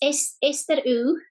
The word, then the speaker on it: Aister: It's Aister. So the first bit is Aister. So our craft is 8th setter, but locals call it Aister. Okay. Just the dialect word.